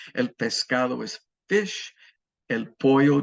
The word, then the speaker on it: pollo: El pollo, double L is pronounced like a Y, is chicken.